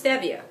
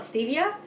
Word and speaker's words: stevia: Now, if you're not familiar with stevia, some people call it stevia, but it's actually pronounced stevia. People don't know. It actually was discovered by someone whose name I think was Esteve, like a Spanish name, so it's stevia.